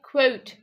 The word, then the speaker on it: quote: You have to say quote. Quote. A slight W sound.